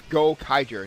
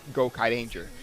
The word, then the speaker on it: Gokaiger: I've been mispronouncing it it's go Kyer not go Kid Danger sorry about that it's